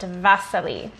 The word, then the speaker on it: Wassily: artist i enjoy named vasily kandinsky so his name is spelled like wassily but it's pronounced vasily he was born in